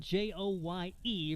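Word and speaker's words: Joye: count on preston joy it's spelled j-o-y-e but pronounced joy 3-0 delivery on the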